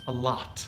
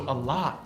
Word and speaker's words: a lot: the o in lot a lot the o in english we pronounce like an ah when it's stressed most of the time so a lot is not an exception